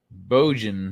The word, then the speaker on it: Bojan: Bojan rhymes with Trojan.